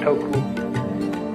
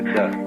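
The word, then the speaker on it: 德: The Japanese pronounce it toku, the Cantonese duck, and the northern Mandarins approximately dirt.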